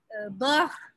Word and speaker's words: beurre: to pronounce because it comes from the throat. R, frère, for example, beurre, for example, it's not R, it is R. It comes in the air. You don't touch your parts inside while you speak air.